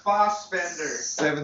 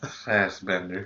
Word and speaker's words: Fassbender: I didn't know they had water bottles in fucking It's Fassbender. 17th century Spain. Pronounced Foss. Are we getting to that again? Yeah. Bethesda, fucking Fast. Fastbender.